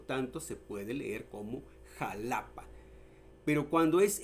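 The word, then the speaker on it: Xalapa: Y luego vemos también el jalapa, que también se escribe con X.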